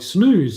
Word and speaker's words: snus: Snust is pronounced like snooze.